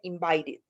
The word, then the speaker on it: invited: Entonces es la tercera regla, termina en T, entonces es con id. Invited. Entonces este se pronunciaría invited, como id.